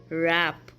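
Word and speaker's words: wrap: जब डब्ल्यू के बाद आर आ रहा हो तब डब्ल्यू साइलेंट हो जाता है, जैसे कि wrong, wrist, रैप and right.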